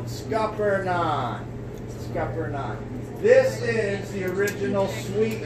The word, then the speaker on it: Scuppernong: You just cover up the G, which is silent, and you just pronounce it as it's spelled, Scuppernong.